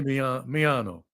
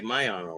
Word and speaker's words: Miano: Well, you're just pronouncing it the way you're pronouncing it. It's me. I say Miano. A lot of people say Miano, right?